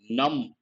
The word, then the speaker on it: numb: Numb, B is silent.